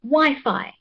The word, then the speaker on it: Wi-Fi: Wi-Fi. Wi-Fi. Oh, okay. I think the first syllable Y is stressed.